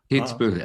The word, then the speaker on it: Kitzbühel: And I hope I don't butcher the pronunciation of the town. It's Kitzbühel? Kitzbühel, exactly.